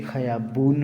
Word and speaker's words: خیابان: اس کو خیابان کہتے ہیں اور اسے خیابون پڑھتے ہیں. میں پچھلی کلاس میں بتایا تھا کہ الف کو بہت ساری جگہ واؤ کا تلفظ دیتے ہیں.